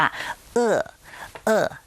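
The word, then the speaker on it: 饿: ว่า หิว ซะ ก่อน ภาษา จีน กลาง ก็ ออก เสียง ว่า เอื้อ เอ้อ นะ ครับ ถ้า เผื่อ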